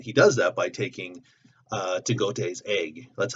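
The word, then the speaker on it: T'Gatoi: And he does that by taking Tagote's egg. That's how I pronounce her name, Tagote.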